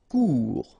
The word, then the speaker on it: court: Court. Final T not pronounced.